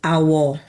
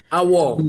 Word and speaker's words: Awo: It's um it's pronounced Awo. Awo.